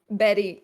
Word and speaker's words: Bette: The pronunciation. Going to take a while. Betty.